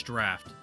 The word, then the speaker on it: draught: I think it's draft. Yeah, draft. It's spelt like drought, but it's actually pronounced like draft, I'm pretty sure.